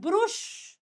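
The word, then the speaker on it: brush: दांत ब्रश करते हैं ब्रुश मैंने बहुत बच्चों को बोलते हुए सुना है ब्रुश करना भैया हमने ब्रुश कर लिया ब्रुश नहीं होता ब्रश होता है ब्रश इट इ ब्रश माय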